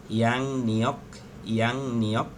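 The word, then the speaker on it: 양력: থালিয়ক মানে হচ্ছে calendar, ইয়ং এর পরে যদি রিয়ল আসে, রিয়লের উচ্চারণ হবে ইয়াং নিয়ক সল্লাল।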